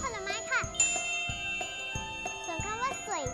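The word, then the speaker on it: 水: คำ ว่า น้ำ เปล่า ภาษา จีน กลาง ก็ คือ สวย ค่ะ ออก เสียง ตาม หนู นะ คะ สวย สอน พูด กับ ฟัง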